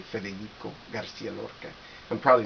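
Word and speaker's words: García: have to say federo garciaa I'm probably not saying it correctly Garcia Garcia like the way people say it in Spain Federico Garcia LCA anyway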